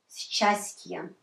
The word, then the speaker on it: счастье: Счастье. Счастье. So the first two we pronounce together. It's easier to pronounce like щ.